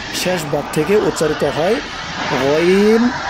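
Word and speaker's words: غ: ভাগ থেকে উচ্চারিত হয় গইন হ। গইন, এই যে মোটা করে, মোটা করে বলতে হবে গইন হ। অনেকে গাইন বলে, গাইন বলে খা বলে, এরকম বলা যাবে না, বলতে হবে গইন হ।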